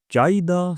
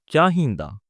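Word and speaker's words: ਚਾਹੀਦਾ: Some people say chaida, some people say chahinda. All right. So there are two pronunciation. It depends on the people what they wanna pronounce. All right. Okay. So chahinda.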